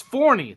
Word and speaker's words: Forney: Is it Forney or Forney? It's Forney, the place for professional wrestling, which There is we what go. the Crockett Cup is, if you did not know. Forney, Texas.